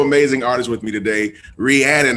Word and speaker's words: Rhiannon: this and she says it's rhiannon like shannon and i have this wonderful amazing artist with me today rhiannon how are you doing